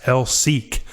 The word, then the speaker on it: LSEC: a radio interview where sean clarifies that lsec is pronounced l seek no further explanation of